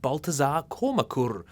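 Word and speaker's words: Baltasar Kormákur: schlock is the canny direction of icelandic filmmaker baltazar komakur that pronunciation is perfect don't bother to google it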